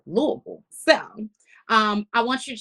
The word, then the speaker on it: Louisville: check me like, Angie, it's not Louisville, it's Louisville.